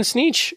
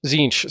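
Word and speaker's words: Tzeentch: Violence, even Sneech, right? Even he is more of like a You mean Leech? Zinch. Sorry, my pronunciation.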